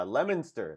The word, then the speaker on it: Leominster: say that lemons I don't know how to pronounce it so let's just go on yeah Leominster that's it Leominster at number forty escape from Godot mr.